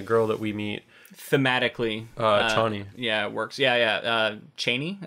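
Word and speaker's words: Chani: Yeah, new beginning for Paul with some of the things that he goes through, and then the girl that we meet thematically, Cheyney.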